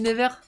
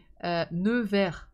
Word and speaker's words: Nevers: Ah, c'est parce que je dis Never. Never? Never? Never? Comment on prononce ça?